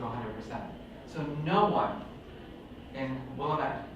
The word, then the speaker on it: Willamette: So no one in Willamette, did I say it right? Oh. It's like I have a disorder about this place, because I like, every time I say it, so it's Willamette.